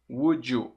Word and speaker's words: would you: Would you. Veja a pronúncia. Would you. Vai ficar com som de DJ.